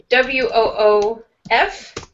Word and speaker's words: woof: Now, if you have W O O F, that's the sound that a dog makes. Woof. Yeah. Same vowel sound as wood and wood, and then wolfy, or W O L F.